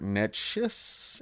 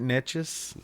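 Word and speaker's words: Neches: I found several versions link to port nus in Texas I don't know if I'm pronouncing that right NE e c hes nus P Port NES NES yeah NES um so I guess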